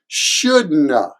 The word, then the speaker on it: shouldn't have: But here too, the shouldn't have is de-stressed at the end, so it usually sounds like shouldna, shouldna, shouldna.